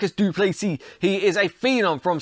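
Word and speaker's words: Du Plessis: do you like us do please see he is a Phenom from South Africa the S is silent and always he looks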